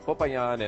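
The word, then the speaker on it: Popayán: couple of storms papayan that is the correct way to say it because I've gotten emails all this week Brian you're saying papayan the wrong way okay it's papayan and as you can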